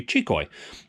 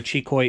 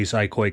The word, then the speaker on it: Xicoy: zco CG machine now proper pronunciation is it's actually chicoy and we give credit to Jonathan over at the lighter side of RC that actually met with gasbar and um got the proper pronunciation so although uh chicoi is the right name you'll very often